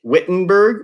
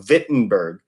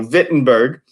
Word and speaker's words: Wittenberg: time and remember it's German so we don't pronounce it wit Wittenberg wee wee with a V so Vinton Berg is how he pronounced it so Vinton Berg he goes there and he nails up 95